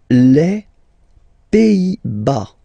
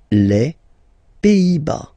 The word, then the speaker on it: Pays-Bas: Les Pays-Bas. Final S here, not pronounced. Same thing here. Pays, and then bas. Les Pays-Bas.